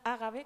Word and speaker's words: Ágave: una de las mujeres, Agave según la cuadra, Ágave, con el acento en otro sitio según la versión más extendida del mito, pues que su